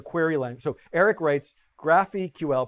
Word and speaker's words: GraphQL: length so eric writes graph eql pronounced like graphical is a dev endpoint